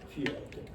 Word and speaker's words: Fialta: But the first syllable is different. Fialta, F-I, right? Fialta.